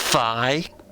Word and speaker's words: Fi: The Fee Blade. The fee to play the game. It's called the Fee Blade. I'm sorry, it's pronounced Fi.